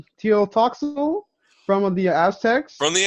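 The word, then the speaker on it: Tlotoxl: Teotoxal from the Aztecs. From the Aztecs, Teotoxal.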